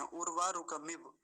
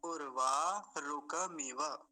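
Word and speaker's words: उर्वारुकमिव: और ज्यादातर लोग ऐसा ही करते हैं, उर्वा रुकमिव ऐसा बोलते हैं। नहीं तो सही उच्चारण क्या होगा, इस हलंत को हटा देंगे, क्योंकि है ही नहीं तो लगाएंगे भी नहीं। अब क्या बोला जाएगा, उर्वा रुकमिव, मिव, वकार पूरा आना चाहिए पीछे वाला जो है।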